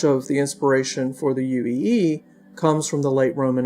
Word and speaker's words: uo'aXy'an: Pitch is very important, and there are long and short vowel distinctions. For example, in the greeting word uo'aXy'an, the first syllable has a long A sound, and it's at a higher pitch than the rest of the word.